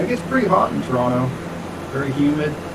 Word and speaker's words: Toronto: university of toronto toronto i guess they don't i guess cages don't pronounce the second team it's like toronto but near the university